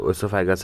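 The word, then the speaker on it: oesophagus: ओसोफेगस मतलब वो जो यह वाला पार्ट है यह देखो यहां पे ओसोफेगस है। ओसोफेगस बोलते हैं इसको ई साइलेंट होता है।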